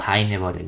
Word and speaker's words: Heine-Borel: O Heine-Borel, ¿no? Si lo pronunciamos en alemán bien.